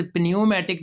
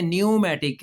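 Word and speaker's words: pneumatic: यह लफ्ज पनमेटिक नहीं है। न्यूमेटिक है। क्या लफ्ज है? न्यूमेटिक। पी साइलेंट है। पी नहीं बोलेगा।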